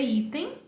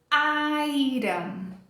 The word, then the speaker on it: item: Não vai ser item, a pronúncia, e sim item. Então, a primeira quebra de expectativa é trocar esse som de I por I, mas tudo bem, porque